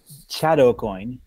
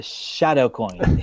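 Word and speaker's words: Chadakoin: uh over to uh the Chateau coin sorry the shadow coin is how you pronounce it uh from Jamestown New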